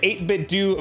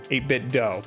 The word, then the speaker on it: 8BitDo: Rest assured, 8bitdo make some quality stuff, (glass breaking) stuff that feels like the first party accessories that inspired it. And yes, it's pronounced 8bit-do. Dough. 8bit-dough.